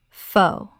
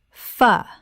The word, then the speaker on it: pho: Common mispronunciation. Pho. Correct pronunciation. Fuh. This Vietnamese soup is one of the most mispronounced words in any language.